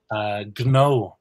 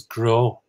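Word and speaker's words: gnó: So, for example, gno, GN ofada means business, and that becomes grow in the northern half of the country.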